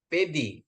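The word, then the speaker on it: παιδί: Alfa ketemu iota. Jadi bacanya jadi Jadi bacanya jadi pedi itu child ya.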